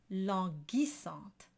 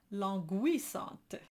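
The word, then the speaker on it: languissante: it's a soft G but in order to do a word like longisot we need to harden the G and the U is the letter that signals that the G is going to be a hard G so the word is logistant and it's not long and it's definitely not longuisance your third tip is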